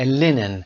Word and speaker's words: linen: تلفظ linen. linen نوعی کتان هست که جنس نرمی هم داره و این رو با کاتن اشتباه نگیرید. کتانی که ما میگیم linen رو در فارسی هم به اشتباه لنین میخونن.